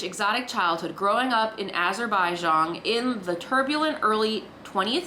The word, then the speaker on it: Azerbaijan: Azerbaijan?